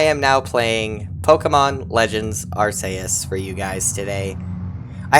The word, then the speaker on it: Arceus: I am that which humans call Arus. Also, before someone goes into the comments and rants about how I'm pronouncing this name wrong, that is the Japanese pronunciation.